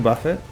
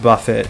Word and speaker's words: buffet: for that uh Wing Buffet I I'm pretty sure it's pronounced Buffett and not Buffet uh since we're not dealing with